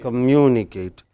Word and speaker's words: communicate: Again, you have ate, 2 syllables before ate. How would you do it? Communication. Communicate.